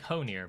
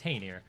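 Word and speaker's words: Hoenir: we're going to fight his name is hanier it's spelt like hoe near but it is heiner um as we've learned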